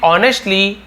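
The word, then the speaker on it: honestly: He preach them to live ऑनेस्टली and behave gently. वह है ना प्रीच्ड, प्रीच यानी प्रवचन देते थे, देम यानी उन्हें, टू लिव यानी जीने के लिए, ऑनेस्टली एस साइलेंट रहता है, केवल ऑनेस्टली पढ़ेंगे, ईमानदारी से, एंड बिहेव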